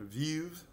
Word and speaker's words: Veuve: This is going to be a Veuve du Vernay, a Vueve, if you want to pronounce it annoyingly correctly.